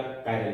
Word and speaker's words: chiral: This chiral, sometimes it is called as chiral also, that is depend upon your pronunciation. कुछ फर्क नहीं गिरता यदि हम इसे चिराल कहते हैं या कायरल कहते हैं.